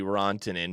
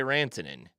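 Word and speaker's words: Rantanen: last name I mean I assume the correct pronunciation is probably Ronin but I say ranin okay I say Nia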